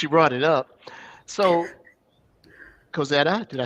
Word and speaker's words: Kozeta: I don't want to be Okay, no, you asked but since you brought it up, so Kozeta, did I say it correctly?